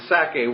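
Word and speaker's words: Sacae: region, of course the Sake was, again, I just picture the word Isaac, and Sake is S-A-C-A-E. It has the syllable of Sak, Isaac, or Itzhak right in it.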